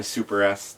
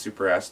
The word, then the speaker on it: SuperS: And to me, that's why Super S didn't, and it is pronounced Super S to people out there. It's not Super, it's Supers.